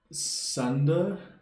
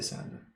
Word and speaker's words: Sander: about doing the channel so it's sander and this is dutch pronunciation what when i say my name in english so it doesn't sound odd okay so i can say sander okay and then louie